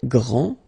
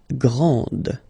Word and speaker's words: grand: This final D is not pronounced. Okay, so grand, and then the feminine form, grande. Okay, so you put this E, and then you get the sound D, D, grande.